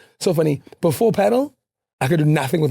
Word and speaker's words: padel: And um padel. Okay. Padel is a sport of the gods. I'm so glad you pronounced it correctly.